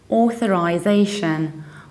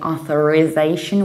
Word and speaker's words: authorization: a typical American ending Americans will say authorization with ending is Asian instead of British ization so they would say